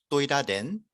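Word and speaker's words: Tôi đã đến: 2번이 뭔가 좀 힘이 느껴지지 않나요? 그러니까 발음에 어떤 그런 강약의 개념도 아니고요. 그냥 발음이 강해요. 그리고 뭔가 이렇게 발음을 쭉 이렇게 눌러주는 힘이 있어요. 잘 들어보세요. 1번 또이라덴 또이라덴 2번 또이다덴 또이다덴 또이다덴 정확하게 낸 하면서 눌러주죠.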